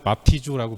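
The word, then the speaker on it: βαπτίζω: 세례라는 단어는 헬라어로 바프티조라고 발음하는데 원어의 의미는 장사 지낸다, 죽었다라는 뜻을 갖고 있는 단어입니다.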